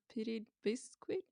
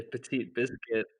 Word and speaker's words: Petit Biscuit: Some people say petite biscuit, petit biscuit if you're European and cool. Us Americans say petite biscuit.